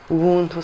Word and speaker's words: Ubuntu: Ubuntu, ça, c'est comme ça qu'on le prononce en Kirundi, c'est la notion des gens, l'humanité.